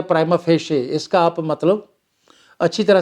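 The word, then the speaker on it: prima facie: ये जो मैं शब्द बोल रहा हूँ ना, इसका उच्चारण आप अच्छी तरह से सीखना। इसको मैं देखा है काफ़ी लोग गलत बोलते हैं। मैं दोबारा बोल रहा हूँ, ऐसे शब्द का उच्चारण होता है प्राइमा फेशे।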